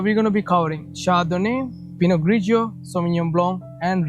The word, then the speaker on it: Chardonnay: Like Chardonnay, if you pronounce it correctly according to the letters, it's written in English, it's Chardonnay, but the pronounce is Chardonnay. It's different.